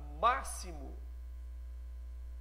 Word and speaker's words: máximo: Olha a palavra máximo, ele tem som de S.